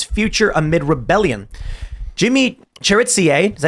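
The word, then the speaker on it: Chérizier: Jimmy Cherizier, is that how you pronounce it? Cherizier?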